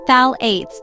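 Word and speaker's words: phthalates: Phalates. This word might be a bit harder to say, but it is important to know about them. Phalates pronounced phalates are often used in skincare products too.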